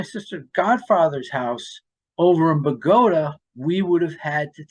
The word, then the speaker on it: Bogota: of the tri-state area it looks like Bogota just like Colombia but no in Bergen County we pronounce it Bogota so anyway so he